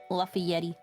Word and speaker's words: Lafayette: Lafayette.